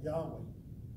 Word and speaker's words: Yahweh: that is there in who we call Yahweh this is the Hebrew pronunciation of his name that came out of